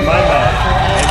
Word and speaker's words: Maima: Yeah, I keep going to say me. It's Maima.